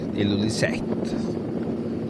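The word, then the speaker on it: Ilulissat: Och i Jakobshavn, som vi har sagt Illulisat, han uttalas visst nog Illulisat.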